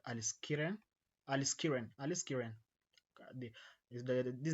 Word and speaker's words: aliskiren: Pronunciation may differ depending on your accent. For me, I think it's called aliskiren. Aliskiren. I think that that I think that's the that's the right uh pronunciation.